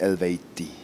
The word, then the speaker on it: Eluveitie: so for the record was a proper way to pronounce it according to today's state of knowledge of you know science is would be pronounced elevate D so I can like